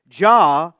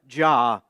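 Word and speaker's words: Jah: Ja is the pwa accented pronunciation of Jehovah God as revealed in the Old Testament.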